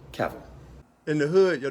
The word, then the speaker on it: Cavill: I mean who who caval is pronounced like travel travel caval in the hood your